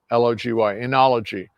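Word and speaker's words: oenology: In the wine world, the science of wine is called enology. So it's spelled O-E-N-O-L-O-G-Y, enology. So it's just short for Eno, O-E-N-O. So drop the O, it's Eno.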